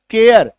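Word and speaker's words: care: लगता है पता है या तो आप बोलिए एयर या एकार की मात्रा और लोग गलती क्या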